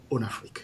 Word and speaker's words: Onafriq: in the franophone and me being from Benin of course kind of pronounce it more like the franophone way rather than way. It does invoke the one Africa idea but it's on Africa.